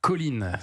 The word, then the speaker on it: choline: Attention hein, pour avoir suffisamment de colline dans son organisme euh même si ça s'écrit choline.